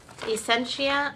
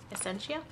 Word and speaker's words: Essentia: A1 off right there Essentia essent I think that's how you say it Essentia it's just a water